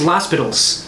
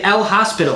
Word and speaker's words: L'Hospital: we can't do that people in 300 years in calculus classes will think it's laspal well you know they're going to say l hospital they're going to have to learn how to pronounce they're going to say